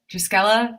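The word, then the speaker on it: Drüskelle: speaking of cults uh the druskela juskela i think is how we would pronounce it i've also just stuck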